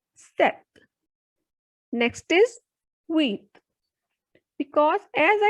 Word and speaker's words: sept: pronounced as joe sees in number 7 p will be silent so the pronunciation will be not sept it is set next is width because